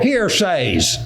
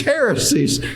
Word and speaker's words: heresies: probably bring in damnable hearsays that's what he said damnable hearsays well it's not hearsay he's it's heresies but he pronounce it hearsay is about gossip well